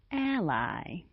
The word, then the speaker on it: ally: Unfortunately, the spelling of the first vowel remains the same, but the pronunciation is different. On the other hand, the pronunciation of the second vowel remains the same, but the spelling changes.